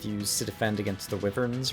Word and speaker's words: wyvern: defend against some of the wevers who are flying up there or wyvern I think is actually the correct pronunciation while I'm at it